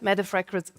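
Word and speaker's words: Mette: But WPL also recognizes with this award outstanding leadership and that's what Metaf Frederickson is about. I try to pronounce MEA the Danish way and that gets me hooked up into complications.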